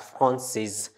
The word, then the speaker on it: Française: But here we pronounce it as Française because the E gives S the sound S.